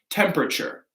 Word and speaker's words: temperature: Yep, another CH sound, temperature.